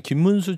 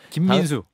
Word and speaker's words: 김민수: 그건 뭐냐면 김문수 최고가 김민수 김민수 그렇죠. 보세요. 발음을 다시 하면 김민수 최고가 최고위원 선거에서 보면 사실 장동혁 그 당대표 역할을 했던 거예요.